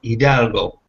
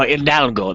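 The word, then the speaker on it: Hidalgo: Eagles Eagles part is idalgo oh idalgo that's right the H is silent yepo yeah he's always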